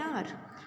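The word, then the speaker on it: hour: he will take N आर देखिए यहां पर जो है ना एच साइलेंट है और आप इसको क्या बोलते आर है आ आ रहा है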